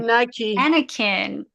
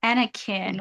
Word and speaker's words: Anakin: itna something good something Anakin Anakin well done how do you spell that a n a kin like next of kin a an a k i n.